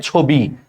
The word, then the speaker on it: ছবি: তাহলে দেখো সে আদ্য অর পর রস্বীকার আছে, উচ্চারণটা হয়ে যায় ছবি।